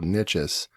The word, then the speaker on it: Nichesss: I say niche, so Nichesss, Nichesss.